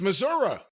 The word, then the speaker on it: Missouri: from Sam he says it's Missouri not Missouri oh godamn it down